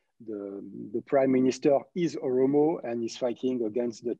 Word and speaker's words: Oromo: flag of the region is it umuru how do you say the um the region there it is oromo yes it is oromo they